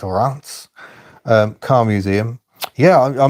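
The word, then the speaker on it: Reims: Believe It or Not re Ms pronounced Rance um car museum yeah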